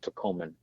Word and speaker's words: Tacoman: But I play on the word a little bit, so capitalize the T, capitalize the N, it's pronounced Taco Man.